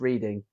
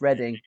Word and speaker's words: Reading: london uh in berkshire most people think it's reading but yeah it's something ready for now yeah some reason it's pronounced reading we don't know why